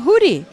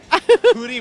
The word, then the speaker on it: Judy: you soon in Mexico I think I'm hoodie but you spell it Judy hoodie but Judy yeah okay got it